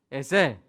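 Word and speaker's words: עזר: 그러니까 돕는 자인데 히브리어 발음은 에셀입니다. 약간 유성음이 들어간 에셀이에요. 자, 한번 해볼까요? 시작. 에셀.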